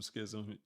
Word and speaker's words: schism: is good for you all right yeah ISM Schism yeah you're saying it right all right good